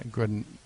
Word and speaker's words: Grinenko: Grinenko. Double N. Kind of green acres, but Don't feel bad. Green. It's like a green color almost.